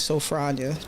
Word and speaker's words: Sophronia: I go by the name of Phro, but my name is Sophronia, pronounced.